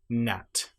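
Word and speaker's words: gnat: So if you have the letters G and N together, you normally will not pronounce the G. And one example might be NAT or a line.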